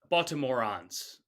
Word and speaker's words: Baltimorons: Am I pronouncing it correctly? Baltimorons.